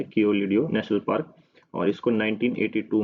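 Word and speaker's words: Keoladeo: थोड़ा सा प्रोनाउंसिएशन में दिक्कत हो सकती है, पर इसका नाम यही है, कियोलिडियो नेशनल पार्क।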